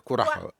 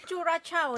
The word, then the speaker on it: Curaçao: Gimana bacanya tuh? Curaçao. Curacao ya.